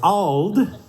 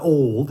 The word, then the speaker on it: Auld: So Auld rhymes with bald. It's not old.